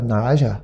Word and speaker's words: na razie: How do you say, what's dobra na razie?